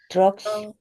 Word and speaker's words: drugs: 드러그라고 하면 안 됩니다. 교수님, drug. 네, 교수님 분당에는 동사무소에서 일 못하실 거예요. 발음 안 좋으면 아줌마들 드세갖고 잘리거든요. 저도 깜짝 놀랐어요. drugs라고 하죠. 드러그 아니고. 그래서 교수님 드러그라고 해서 깜짝 놀랐습니다.